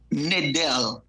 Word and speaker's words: Nadal: It's Nadal. It's spelled Nadal, but I don't pronounce it. And it's because I actually combine because I have a nephew named Dale, and so when I named him, I did that, but I don't pronounce it as Dale. Is Nadal.